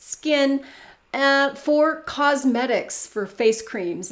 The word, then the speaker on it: SKKN: So recently, Kim Kardashian was contacted by another skincare brand after she attempted to register the trademark SKKN, I guess that's supposed to be pronounced skin, for cosmetics, for face creams and stuff like that.